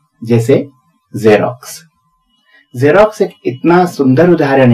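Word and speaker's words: Xerox: है इसकी स्पेलिंग और पहले वाला एक्स बना रहा है ज और बाद वाला एक्स बना रहा है आधा क और स ये है जेरोक्स यानी जेरोक्स कॉपी फोटोकॉपी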